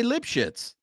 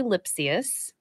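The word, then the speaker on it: Lipcius: their previous videography and it's actually lipsus so yeah we're saying the same thing right we're basically saying the same thing sounds like lip shits to me but okay so help me so help me up here so it's Andre lipus lipus yes lipsus exactly I I I admire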